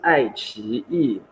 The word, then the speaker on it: iQIYI: So iQIYI, correctly pronounced iQIYI, is basically like your equivalent to Netflix, but Chinese.